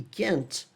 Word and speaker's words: can't: Percebe que quando é negativa a pronúncia vai mais forte no can? Isso te mostra que tá na negativa, mesmo que você não ouça o T?